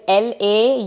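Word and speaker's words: Laufey: yeah okay all over the world first is La uh it is l l a u f y but it's pronounced as La she makes amazing JZ where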